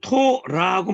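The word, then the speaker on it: תורה: 그 다음에 끝에 여기 해가 오거나 알렙이 오거나 그러면 발음을 거의 안 해줘요. 그래서 그냥 눈으로만 보고 그냥 토라고 말아버리는 거예요. 발음 안 해요. 끝에 이 해가 오거나 알렙이 오면 묵음 처리되는 거. 처리되는 거예요. 소리가 약해가지고 안 내요.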